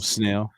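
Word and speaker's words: Snell: is that right now right it is snail yeah but I will I'll I'll take any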